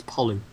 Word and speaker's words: Pollux: Oh, no, Pollux. Oh, yeah, Pollux. Pollux Koss, another Pleiades? Actually, it's a French name, so it's a silent X, so it's Pollux.